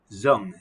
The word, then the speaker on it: Dung: in vietnam and her name was miss zhang pronounced zong z-u-n-g but spelt with a d with a